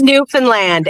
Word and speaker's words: Newfoundland: They have internet in uh Newfoundland. Just kidding. Oh, it's pronounced Newfanland, Adam.